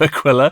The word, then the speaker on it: Aquila: I was corrected on the pronunciation of Aquila by Gordon Rennie himself.